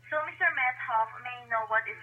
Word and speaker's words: Methoff: Methoff, like with an H. Methoff. So, yes, Methoff. Not. Okay, sir. So again? You don't hear the H very well. It's kind of blended in with the T.